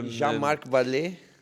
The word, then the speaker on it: Jean-Marc Vallée: Non so come si pronuncia. Allora, Jean-Marc Vallée.